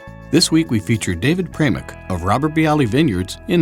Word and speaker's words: Pramuk: I'm here with David Pramuk. And I did pronounce it correctly. Pramuk. Pramuk. Mm-hmm. I got it right, because once again, I got to say it, he's a Czechoslovakian boy.